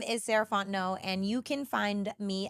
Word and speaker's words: Sarah Fontenot: again my name is Sant no and you can find me at Ms sarant no so Ms s a r a h f o n t n o t the tea is silent um that's me on